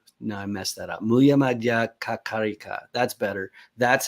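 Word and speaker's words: Mūlamadhyamakakārikā: Muya Madhya Kakarika. That's better. That's how you pronounce it, but that's why people call it the Karika.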